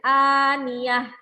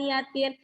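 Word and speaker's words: النية: jadi Khan niatin nah ketika waqaf maka harus dibaca an-niyyah jangan dibaca and niatin sudah tahu biar berada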